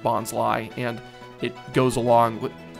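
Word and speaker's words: Bonsly: little potted uh Bonsai oh should be bons huh cuz it's like it's Sly B I've just I I have just now figured out that yes it is in fact pronounced bons Li and it goes along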